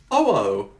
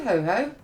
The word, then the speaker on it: Ho-Oh: Ho-oh. That's why I said ho ho. Ho-oh. Oh ho. Oh. H-O Oh. dash O-H. Ah, right. Ho, Like I ho. said, you always say it wrong.